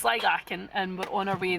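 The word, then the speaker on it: Sligachan: Found a way to pronounce it. Right, so it's Sligachen and we're on our way there now.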